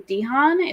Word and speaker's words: DeHaan: It stars Micah Monroe and Dan Dehan. Is that how you say it? Dane DeHaan, yeah.